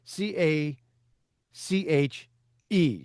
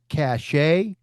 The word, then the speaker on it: cache: C A C H E. Some people will pronoun- pronounceticate that cachet.